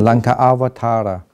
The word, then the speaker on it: Lankavatara: No, actually, I have to pronounce it Lankavatara.